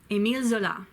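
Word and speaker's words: Émile Zola: de Perry in Arizona a meal zoo la Emile Zola and he wrote today's rock take it cuz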